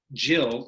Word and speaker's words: Gillian: uh said the official jillian anderson website says it's pronounced with a soft g not a hard one it's jill like jam as opposed to gun that's the quote so